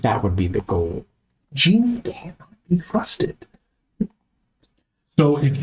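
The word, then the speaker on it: djinni: No, she's a genie. Are you a djinn? I'm a genie. It's spelled D-J-I-N-N-I.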